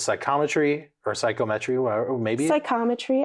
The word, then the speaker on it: psychometry: Yes, that's how you say it, Taylor. Psychometry.